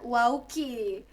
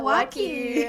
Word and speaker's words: Waukee: Kalau orang yang nggak tahu mungkin bakal bilangnya Waukee. Waki. Dan ternyata U-nya silent, jadi Waukee.